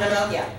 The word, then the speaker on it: pneumonia: What about pneumonia? Silent letters? The P. Because it's next to that N, okay.